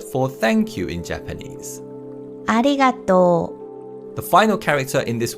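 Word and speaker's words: ありがとう: word is u, but this character is not pronounced, and instead we pronounce the vowel sound in to as a long vowel sound. So again, it's ありがと Okay, so with all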